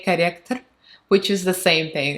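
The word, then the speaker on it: корректор: So it pronounces, it sounds like corrector, corrector. So Russian R's all hard, so you're gonna hear the hard R's everywhere.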